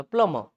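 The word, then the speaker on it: plumber: अब यहाँ पे आता है, ठीक है, इसमें आते हैं प्लम्बर, इट्स क्या है, इट्स क्या है, प्लम्बर, ठीक है, लेकिन र को पूरा नहीं बोलता, प्लम्बर, क्या बोलते हैं, प्लम्बर, समझे बात को।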